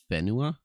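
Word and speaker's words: whenua: except this is pronounced fenua because the wh sound is a f sound when reading Mai um but like if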